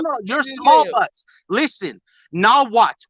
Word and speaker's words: Nahuatl: Nahuatl with no LT at the end. Nahuatl.